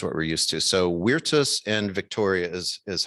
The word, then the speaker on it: Virtus: are derived from latin so we could say vertus and victoria but um it would be more proper to say weirtus and victoria if you're pronouncing in latin but